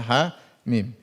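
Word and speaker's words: حم: Mim Alif Lam Mim HAM mim dibaca ha mim Yasin jangan dibaca Yas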